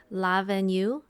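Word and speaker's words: L'Avenue: did go to is la venue so that's l apostrophe a v e n u e uh it's like le avenue lavenue um great brunch i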